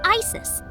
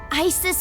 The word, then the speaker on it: Isis: Horus's mom is named Isis, but in ancient Egyptian, it's pronounced closer to Ise or Asa.